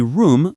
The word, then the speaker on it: room: Y room como rum, alargando la U.